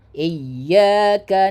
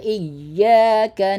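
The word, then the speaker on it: إياك: Iyaka na'budu wa iyyaka nasta. Benar-benar kita tekan ya. Karena ini huruf ya tasdid berarti ya-nya itu ada double. Maka penekanannya juga lebih kita tekan lagi.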